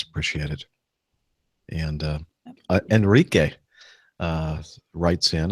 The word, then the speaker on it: Enrique: appreciate it and uh Enrique uh writes in I think that's the way you pronounce e n r i quu is that right Rick you got it right okay I really enjoy